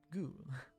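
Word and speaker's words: ぐ: You pronounce it as Gu.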